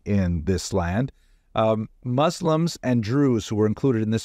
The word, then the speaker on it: Druze: It's not Jews, it's Druze. This is another ethnic group that are similar to Muslims, but they seem to be their own group. But that rhymes with Jews and the caption is wrong.